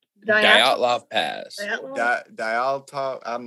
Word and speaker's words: Dyatlov: We talked about the Dalatov, right? Is that how it's pronounced? Dyatlov Pass. Dyatlov.